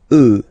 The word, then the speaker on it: œufs: Then, un œuf, des œufs, okay? And we'll make the liaison here to make it sound more beautiful.